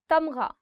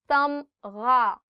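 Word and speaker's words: تمغہ: Tamgha, medal. Tamgha, gha. The sound of gha or the alphabet ghain is always coming from here. So try it from here. Tamgha.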